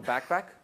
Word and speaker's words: BACPAC: Microsoft have now got something called a backpack. It's a funny name. It's spelled BACPAC.